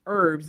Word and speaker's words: herbs: Um but we say it e rb herbs and we put the h is silent.